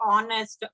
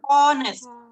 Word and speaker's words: honest: Where in the words like honest, our, where the word H is silent, obviously article an. Because honest, our.